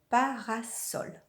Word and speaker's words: parasol: Un parasol. On n'oublie pas la règle que lorsque le S est entre deux voyelles, il se prononce Z.